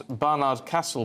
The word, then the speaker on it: Barnard Castle: us mad Morin says please pronounce Barnard Castle properly not barard barard Castle it's single flat a not elongated as I'm ashamed of